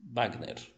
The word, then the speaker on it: Wagner: Por exemplo, se a palavra é estrangeira e tem som de B, então vai continuar no espanhol. Por exemplo, Wagner, sim? Wagner.